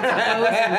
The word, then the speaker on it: boatswain: I know it's bosun for boatswain.